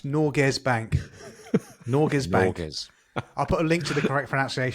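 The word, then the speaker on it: Norges Bank: hold just let's just see something here you pronounced Nords what are you doing NES it's norz Bank noras bank I'll put a link to the correct pronunciation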